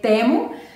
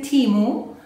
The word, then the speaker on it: Temu: compra este Hall de temo creo que en inglés le dicen chimu a mí como que no me gusta decirle te amo pero es bueno en cada lenguaje se pronuncia diferente dime si tú has